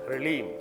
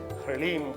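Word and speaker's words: ह्रीं: ल के पैर में ह, आधा ल, और उसके अंदर र, तो और ऊपर बड़ी की मात्रा और ऊपर बिंदी, ह्रीम शब्द है।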